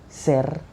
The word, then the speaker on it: ser: and i say the verb ser the verb ser this is the pronunciation in infinity form is the saying that